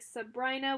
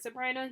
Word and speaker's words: Sabrina: I didn't go kayaking, but we did go to Lake Sabrina. You would think it's called, or pronounced Sabrina, but it's Sabrina.